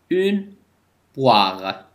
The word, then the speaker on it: poire: أو مع إي تلفظ و. فلاحظوا إلى un roi. une poire.